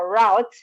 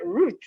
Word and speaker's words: route: an american word now route whereas the british call it root root yes thank you